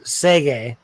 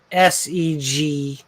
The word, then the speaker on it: Seguin: Here where I am in North Bay, my current boss for my job, his last name is Seguin, which is spelled SEGUIN. Yeah, because the U is French sound.